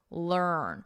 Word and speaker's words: learn: First, let's look at learn, because we've talked a lot about this EA pronunciation. We've seen it in many different forms. Here, you can think of it as a earn, more of a sound, or you can just think of the vowel is just not even there, and it's earn. Earn, learn.